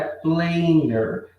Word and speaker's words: planer: A pronúncia disso aqui é planer. Se fosse a palavra planner sozinho, existe planner, tá?